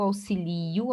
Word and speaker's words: auxilio: Auxílio, aqui, ó, eu auxilio, auxilia o li, que é a sílaba mais forte, paroxítona terminada em O não acentuado. Agora, auxílio, aí sim é acentuado, porque o si, que é a sílaba mais forte, paroxítona terminada no ditongo ió.